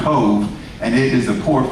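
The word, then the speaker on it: Cobh: And 6 days later, they would be torpedoed off the coast of Cove, C-O-V-H in the Gaelic is pronounced Cove, and it is the port for Cork in the southern part of Ireland.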